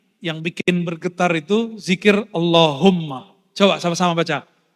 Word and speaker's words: Allahumma: Tadi yang bikin bergetar itu zikir Allahumma. Coba sama-sama baca. Allahum yang benar bacanya, sama-sama. Allahumma, lagi.